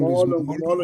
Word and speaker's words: Molo: Molo, you were right. You were right the first time, Kabazela. Molo, not Molo.